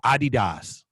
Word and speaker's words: Adidas: it, you should at least know how to pronounce it. I've heard it said both ways. No, it's man. Adidas.